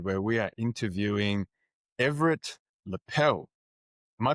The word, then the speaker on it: Lippel: Hello, everybody, and welcome to another episode where we are interviewing Everett Lippel. Am I pronouncing your last name correct?